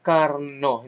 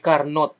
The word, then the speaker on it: Carnot: So it is pronounced as Carnot, hindi Carnot, na kasi French eh.